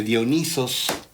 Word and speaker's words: Dionisos: Los espíritus dominados por el espíritu, los seres humanos dominados por el espíritu de Dionisos, lo pronuncio como se escribe originalmente, son gente indómita, rebelde, inconforme, que se atreve a desafiar, se atreve a nadar contracorriente.